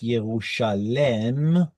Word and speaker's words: Yerushalem: Now, truth be told, all evidence seems to indicate that Jerusalem was originally pronounced Yerushalem. In fact, even the Septuagint and therefore English still have the E sound right there, Yerushalem.